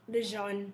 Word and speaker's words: LeJuan: I keep messing your name up, LeJuan. But you smell like Juan, LeJuan. Okay. I know, but my mama told me it's French, so, I got to go with that. That's the pronunciation. Got you, LeJuan.